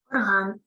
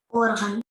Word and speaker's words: орган: відповідно до їхніх значень музичний духовий клавішний інструмент - це орган наголос падає на другий склад орган а частина організму що виконує певну роботу це орган орган наголос падає на перший склад Подивіться абсолютно два однакових слова нічим не відрізняється в написанні а від того куди падає наголос залежить їхнє значення якщо на перший склад то це частина організму якщо на другий склад то це музичний духовий клавішний інструмент ви бачите яке значення